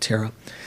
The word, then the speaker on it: thera: a styvera in sanskrit that's just the pali way of pronouncing it terra so the theravadans are